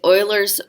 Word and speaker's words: Euler: get euler from there if I remember correctly this is a German name and they pronounced you